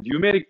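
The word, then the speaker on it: pneumatic: 보통 이제 뉴메릭 밸브라는 밸브를 씁니다. 그 뉴메릭이 P가 묵음입니다. 노후에서 K가 묵음인 것처럼, 슈도 사이언스에서 P가 묵음인 것처럼, 뉴메릭 밸브, 뉴메릭이라는 뜻이 공합이라는 뜻이에요.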